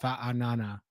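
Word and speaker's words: Fa'anana: and I would have I know it's pronounced fat Anana but fana banana is what we've been calling him um and uh I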